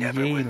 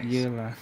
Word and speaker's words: Yelan: Pronounce it Yelan, not Yelan.